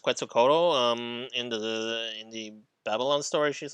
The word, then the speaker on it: Quetzalcoatl: So like, I did like yeah, I really did like Quetzalcoatl. Is that how her name is pronounced? Quetzalcoatl.